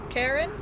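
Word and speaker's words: Charon: C H A R O N I think pronounced Karen.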